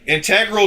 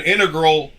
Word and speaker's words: integral: See, it says can be pronounced with the stress on either the first or second syllable, both of which are considered correct.